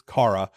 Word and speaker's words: Cara: and by the way we were able to to verify it is Cara um I'm sorry that I've been pronouncing it like an idiot it's it's Cara uh